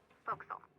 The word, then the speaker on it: forecastle: The forecastle on a ship refers to the upper forward deck of a sailing ship, but it's pronounced forecastle. Why is that? Try pronouncing it like an English sailor with no formal education. Forecastle. Forecastle. Over time it whittled down.